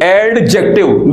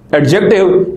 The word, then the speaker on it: adjective: this is written adjective adjective but unfortunately in english it is not pronounced adjective it's pronounced adjective means here d is silent so you should try to avoid pronouncing d but even if you